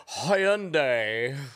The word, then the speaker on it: Hyundai: Oh, I guess I'll just drive around in my Hyundai.